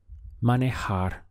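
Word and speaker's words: manejar: verb to drive is manohar looks like a man in a jar money hard just three syllables man a hard how would you say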